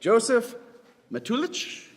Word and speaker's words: Josef Matulich: So, if you think that Josef Matulich, did I say it right? Yes. Okay, Josef Matulich is the winner.